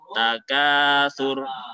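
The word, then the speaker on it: تكاثر: Takatsur. Nah, ketika berhenti pendek. Sur. Takatsur. Alhaakumut takatsur. Jadi anak-anak tidak dibaca panjang alhaakumut takatsur, tidak ya. Nah, kalau seperti itu tidak betul bacanya. Tetapi dibaca pendek ketika berhenti.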